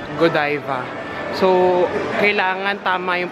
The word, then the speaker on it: Godiva: Alam niyo ba na ang tamang pronunciation pala ni ito ay godiva so kailangan tama yung